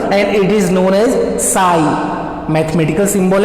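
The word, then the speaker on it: ψ: Sai means that is stand for wave function and इट इज प्रोनाउंसिएटेड एज साई.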